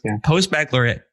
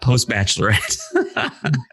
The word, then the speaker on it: post-baccalaureate: Okay, but, so it's post-baccalaureate, to be clear, not post-bachelorette.